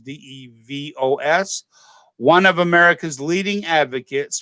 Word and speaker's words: DeVos: President Trump's appointed Betsy DeVos, I believe that's how you say her name is, DeVos, one of America's leading advocates for greater school choice.